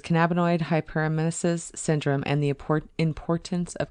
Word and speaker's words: hyperemesis: Looking forward, allowing more research in cannabinoid hypermesis syndrome and cannabis generally will alleviate the pains of people all around the country.